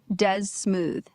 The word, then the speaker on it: Desmoove: is dead smooth. D E S M O O V E. Say it right. Dez Smooth.